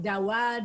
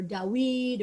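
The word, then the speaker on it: דוד: le David, and remember David probably pronounced more like Dawad or Dawid or Dawad. We don't really know, but unlikely the vav there was a v.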